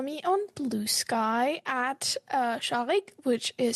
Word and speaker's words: Shaghik: you can follow me on Blue Sky at shik which is spelled as s h a g h i